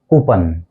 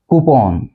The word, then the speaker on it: coupon: इसको हम बोलते हैं कूपन, कूपन, लेकिन इसका जो एग्जैक्ट प्रोनाउंसिएशन है वो है कूपन, कूपन। ये 2 सिलेबल वर्ड है कूपन।